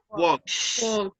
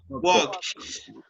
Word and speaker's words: walks: do you pronounce it walks walks works okay works letter l is not pronounced letter l is right